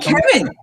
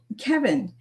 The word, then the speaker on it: Cevin: So a lot of people aren't familiar with the hard C there, but I appreciate you